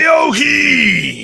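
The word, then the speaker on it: Vellojin: Veoheen.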